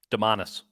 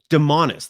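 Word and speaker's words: Domantas: devonta is a bonus and i hope it pronounced his first name correctly honestly what is it demanus demonis thank you for correcting me on that i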